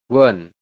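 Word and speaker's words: 원: betul seperti ini ya dibacanya adalah Won Oh ininya bukan u tapi pakainya W langsung Won seperti itu ini niionnya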